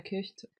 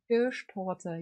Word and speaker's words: Kirschtorte: Oh, wait, is this Schwarzwälder Kirchtorte? Oh my god, I can't pronounce this even in German. Is this thingy I think about? Kirschtorte.